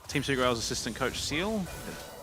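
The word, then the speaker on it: Ciel: I think it's Team Secret Wales assistant coach Seal. I think that's how you say it, C-I-E-L. Yeah, I think that's the head coach. Seal.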